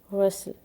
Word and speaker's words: rustle: The first word is rustle. Rustle. इसमें टी जो है वो साइलेंट है और ये हम इंशाल्लाह